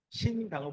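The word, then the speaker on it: 新疆: 신장이라는 말이 여러분들이 잘 안 하는데 한자로 써놓으면 한자로 써놓고 우리 발음을 읽으면 신강입니다. 신강은 뭐냐면 새로운 신자에다가 영토할 때 강자 있잖아요. 강토할 때. 그거를 우리는 신강이라고 읽고 중국에는 신장이라고 합니다.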